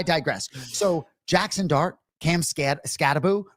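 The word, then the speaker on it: Skattebo: So Jackson Dart Cam Scattaboo, right? And for those of you who don't know, it's 1-0, but it's pronounced boo.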